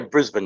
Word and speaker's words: Brisbane: Is that properly pronounced? Yeah, Brisbane, yeah.